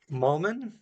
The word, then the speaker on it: Mollman: Today I am talking with Mullman.